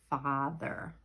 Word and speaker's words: father: But it's not father, it's father.